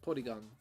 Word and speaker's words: Porygon: So so it's called Porygon because it would be pronounced like Porygon instead of Polygon.